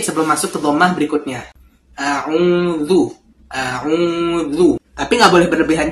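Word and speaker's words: أعوذ: Pada saat kita membaca auzu di sini ada dua huruf dommah yang sejajar ya. Jadi bibirnya ini enggak dimajukan sekali enggak auzu, tapi dua kali dimajukan.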